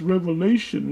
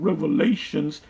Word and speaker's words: Revelation: James White the Edomite, would say is it's pronounced Revelation, not Revelations.